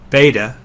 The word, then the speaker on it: beta: the a in father beta is next it sounds like the B in Bible gamma is a G